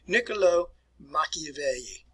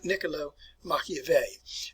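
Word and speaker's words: Niccolò Machiavelli: sleep with that but let's work on the pronunciation of this individual's name here nicolo machiavelli niccolo machiavelli all right he is considered to be the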